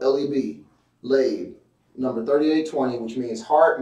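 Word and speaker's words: לב: The word lab is 3820, which means heart, mind, will, and inner man. And it's spelled L-E-B, lab, number 3820, which means heart, mind, will, and inner man.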